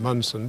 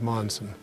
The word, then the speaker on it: Monson: what is now Monson a lot of people in Mount Pleasant still pronounced in munson but I never liked that pronunciation so we go with Monza and the Danes certainly